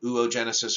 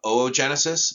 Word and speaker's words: oogenesis: it's in the ova it's called oogenesis or oogenesis yes you are supposed to pronounce each one of those o's separately uh so when you